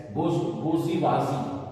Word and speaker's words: bourgeoisie: Number 3 में है number 3 that is बोर्जुइजी. बोज, इसको कैसे प्रोनाउंस करेंगे?